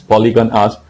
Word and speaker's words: Polygonus: poder hablar y ahí te corrijo la pronunciación, es Polygon Us, con polígonos, y lo que estamos